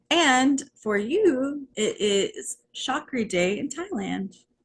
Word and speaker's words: Chakri: for you it is shockery day in Thailand right now though is that how you say it chalkery yeah okay um so the chakri Dynasty is the current